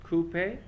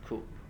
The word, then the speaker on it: coupe: is called coupe but is usually pronounced with two syllables in the uk as coupe and one syllable in the u.s as coupe in the uk van